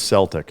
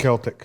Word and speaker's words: Celtic: I like the Celtic, and it is Celtic. It's one of the most mispronounced words. It's Celtic. It's not Celtic, it's Celtic. It's not the Boston Celtics.